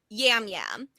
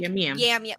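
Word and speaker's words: Yam Yam: So things like a J, if he pronounces it fast enough, will come out, will sound like Yam.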